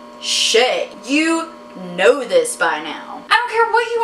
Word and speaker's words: Chet: Oh Chet is such a deplorable name it's pronounced chay you know this by now I don't care